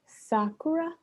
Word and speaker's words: Sakura: that if i'm reading this correctly they are pronounced sakura okay i think yeah sorry if i butchered